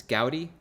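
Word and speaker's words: Goudey: So the thing we want to look up here is how do we pronounce this? Gaudy? Yep. Gaudy.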